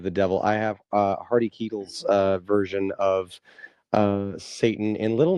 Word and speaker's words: Keitel: Harvey Keitel was his name. He's a Harvey Keitel. Keitel. Keitel. Okay, yeah. I thought I heard it, but yeah, okay.